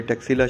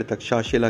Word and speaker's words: तक्षशिला: हज़ारों साल पहले टैक्सिला शहर तक्षशिला कहलाता था। इम्प्रॉपर प्रोनाउंसिएशन की वजह से ब्रिटिशर्स ने तक्षशिला को टैक्सिला का नाम दिया।